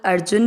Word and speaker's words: अर्जुन: चरण यहां पर श्लोक अर्जुन बोल रहे हैं जू के ऊपर आध र अ के साथ आधर अर जुन न में अ मिक्स किया ज की मात्रा को दीर्घ नहीं करना है अर्जुन वावा च में अ